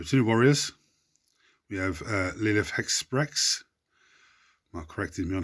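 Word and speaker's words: Lilith Hesperax: We have Lilith Hexprex. Mark corrected me on how to pronounce her name today.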